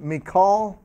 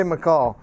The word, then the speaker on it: Michal: David and Jonathan and Michal by the way that's what I pronounce it and I see Mike out there I'm gonna play if you know watch the way we pronounce it but I'll say McCall that they're all living